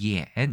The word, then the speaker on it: 衍: 중국 에서 는 " 옌 " 이라 고 발음 합니다 . 비슷해 요 . " Yán" 과 "yǎn", 맞습니다 . 대 만 , 홍콩 , 마카오 에서 는 간체자 와 번체자 의 한자가 동일 합니다 . 일본 도 마찬가지 입니다 . 하지만 일본어 에서 는 " 연 " 이 아니라 " 엔 " 으로 발음 됩니다 .